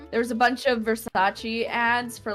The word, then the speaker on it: Versace: don't know like yeah v e r s a c e verise but it's Versace like what they they